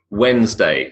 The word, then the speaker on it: Wednesday: The answers: Wednesday, silent D; February, silent R.